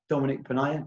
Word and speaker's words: Dominic Ponniah: alexander recruitment today i am joined by uh dominique pena did i pronounce that correctly dominique you did yeah dominique